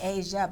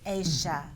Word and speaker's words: Aysha: I keep wanting to say Aysha, but it's Aysha.